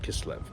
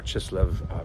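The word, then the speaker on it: Kislev: of the month of KV um or chislev depends on how you pronounce it uh but this is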